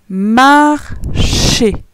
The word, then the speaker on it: marcher: Ensuite, on a M-A-R en vert. Ces trois lettres donnent le son mar. Après, on a les lettres C-H-E qui se lisent chez. Marcher.